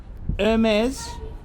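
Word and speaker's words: Hermès: before the store Clos and he told me Hermes pronounced the for silent hates actually owns the freeold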